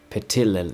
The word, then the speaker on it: Petilil: And then we got this Petilil, Uh Petilil, yeah, that's how you say it.